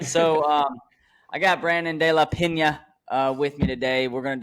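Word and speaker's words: De La Peña: Pena has a little line on the end. De La Pena. There you go.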